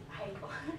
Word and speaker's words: Hegel: Hegel. Just pretend it's spelled H-A-Y. Hegel.